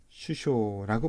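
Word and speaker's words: 首相: 다음에 수상 쇼우 자의 상자가 보통 발음이 수 웁니다 여기 소가 있네요 수원대 자 이것을 쇼라고 있게 되면 은 특별한 의미가 부여 됩니다 장관 이라는 뜻이에요 그래서 어 최고 뜸이 되는 장관 머리가 되는 장관 그래서 수상은 쉬 쇼라고 발음 하게 됩니다 그 다음에 우리 김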